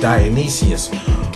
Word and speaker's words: Dionysius: a court he was a courtier to dionysius pronounced dionysius who was a tyrant um in a courtier